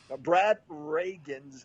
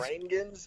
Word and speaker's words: Rheingans: Like Ronald Reagan, but with an S on the end? No, it's Rangans? I honestly don't know either. It's Rhaegens, Rangans. Okay. No, it's Rheingans is how they spell it.